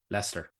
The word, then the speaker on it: Leicester: Leicester. Is how it's pronounced.